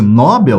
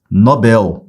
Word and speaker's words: Nobel: ela não tem acento se a pronúncia fosse nóbel você teria que colocar acento no nó porque seria ó separei sílabas Se você falar nóbel você vai ter uma paroxítona terminada em L paroxítona ó lixão é o l de lixão paroxítona terminada em L é acentuada Só que essa palavra não é acentuada então a pronúncia dela não é nóbel a pronúncia dela é Nobel cuidado tá essa palavra é uma oxítona beleza Prêmio Nobel da